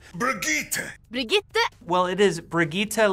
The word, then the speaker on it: Brigitte: Brigitte! Brigitte!